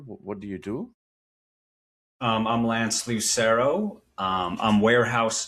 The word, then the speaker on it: Lance Lucero: Today we have with us Lance Lucero. Am I pronouncing that correctly, Lance?